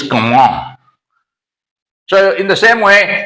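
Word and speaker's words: Comment: name k now see Comm the spelling of this word is c m e n t though the pronunciation is Comm so in the same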